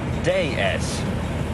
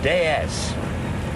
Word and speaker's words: DS: what we call the ds is in france pronounced day s de s it's the french word for goddess it was